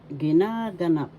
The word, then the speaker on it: ginaganap: happen ginagana ginaganap happening first syllable second syllable na third syllable ga syllable ginaganap ginaganap second syllable has the action so you pronounce this as ginaganap ginaganap happening gaganapin will happen.